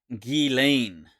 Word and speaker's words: Ghislaine: so what's her name she pronounces it G Lane I think she spelled